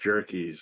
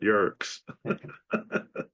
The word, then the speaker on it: Yerkes: off the bat was it's pronounced jerkies and not jerks so thanks for that